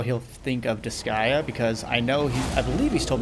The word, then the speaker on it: Disgaea: I was like, I'm pretty sure it's Disgaea. What was he saying? Deskia? Something like that? Like Deskai? I don't remember what he said. I was just like, I'm pretty sure that's not accurate.